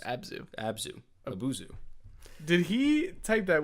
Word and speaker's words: Abzu: So anyway, he asks, "Have either of you played Abuzu?" I think that's how it's pronounced. Abzu.